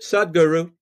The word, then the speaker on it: Sadhguru: How do you pronounce Sadhguru? That's it, Sadhguru. Sadhguru.